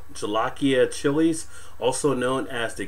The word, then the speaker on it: jolokia: the i guess is john oakey of peppers or jolokia pepper is how they pronounce that ghost pepper just